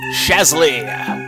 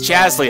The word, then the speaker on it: Chazley: We do get a starmate on this mission, so we will load up FPS Shazley. FPS Chazley, I believe is actually how he pronounces his name.